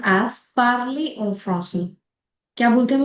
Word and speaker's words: parler: The first one is parler. Notice the pronunciation also. Jo ER ki pronunciation pronunciation aati hai woh age aati hai, okay? Parler.